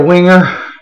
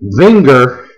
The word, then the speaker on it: Wenger: any messages about uh i should be pronouncing the name vinger i want to make sure i knew how to pronounce the name of the knife that i carried so i actually contacted winger's headquarters to ask them how to pronounce their name correctly and it is winger they explained to me